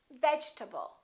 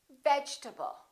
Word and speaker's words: vegetable: the E is dropped we don't say vegetable a lot of my students say vegetable or veget tble this e disappears and this a is reduced because it's part of the unstressed syllable and we say vegetable vegetable let's look at a